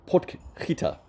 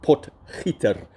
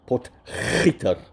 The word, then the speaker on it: Potgieter: So, obviously, my two South Africans, Casey Jarvis and Aldrich Potgieter. Geez, I messed that up. Potgieter. That's how you say it. You got to really uh be guttural with that G. Potgieter.